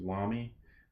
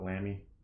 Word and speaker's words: Lamy: you get other lamby's I think it's actually pronounced Lommy but I like to call it lamby I don't know why